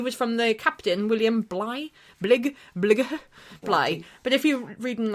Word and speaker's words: Bligh: He was from the captain, William Bligh. But if you're reading, it's spelt like Edinburgh, Bligh. Oh, Edinburgh. Yeah. Bligh. B-L-I-G-H. Yeah, like Blighty. Yeah. Yes. Or like Blight.